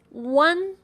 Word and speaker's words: uan: UAN is pronounced as one. One. It sounds like UAN as in the Spanish name Juan.